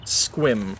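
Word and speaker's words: Sequim: It's just squim technically, I guess, is how people how you would say it, how it's spelled, but I my my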